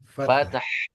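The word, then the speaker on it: فتح: Jadi gambarannya pakai e fate. Tulisan Indonesianya itu F a t e t e ya. Tapi dibacanya e sama ha fath. Fath begitu. Enggak apa-apa pantulannya di agak jelas enggak apa-apa yang penting H-nya muncul. Nah nanti lama-lama E-nya itu tipisin tipisan hilangkan gitu.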